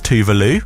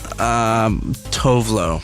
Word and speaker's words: Tove Lo: I do it Tovlo, but I have heard that it's Tuvalu.